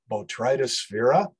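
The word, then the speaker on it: Botryosphaeria: to remember that incredibly long name it is pronounced botrytosphera and it is a vascular disease of a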